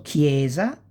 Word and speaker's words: chiesa: Si pronuncia come kind keys, no? K. So chiesa, cioè che and chi, like, chiesa, chiedere, chitarra, inchiesta, inchiostro, cherubino, schermo, and scherma.